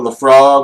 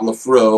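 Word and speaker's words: Laphroaig: I suggest I suggest before you buy a bottle of Lafro or Lafrog or whatever it is, whether you want to pronounce it incorrectly or correctly, I don't even know how it's spelled.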